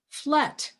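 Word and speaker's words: Flatt: of my existence but my last name is pronounced flat flat people I'm neither the Navy or the enema I got it that's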